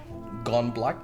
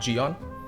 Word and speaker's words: Geon: This is the Gone Yellow. By the way, I'm gonna start pronounce it as Gone now, not Geon, because that is actually how it's supposed to be pronounced.